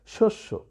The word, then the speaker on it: শস্য: তো তাহলে যখনই দ্বিত্ব আসবে তখনই কিন্তু প্রথমটা ব্যঞ্জনান্ত বলেছি, আর শেষের ওটা সাধারণত সংবৃত হয়, তাই এটাও দেখো সংবৃত হয়ে গেল, উচ্চারণ হলো কি? শস্য।